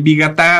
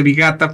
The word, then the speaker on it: Vigatá: Y el Vigatá, a veces la gente dice Vigata porque omiten el acento en la última.